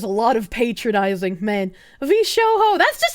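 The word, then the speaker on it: VShojo: lot of patronizing man V Sho that's just how I pronounce it I pronounced the J like H I don't like saying v Joe it sounds silly I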